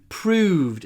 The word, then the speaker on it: proved: Proved. Здесь важно произносить длинный «в».